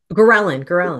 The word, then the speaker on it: ghrelin: So even the mechanisms itself, it's a, and I'm gonna butcher the word here, ghrelin, I believe is how you pronounce it, the hormone. Ghrelin, Ghrelin, yes, that one.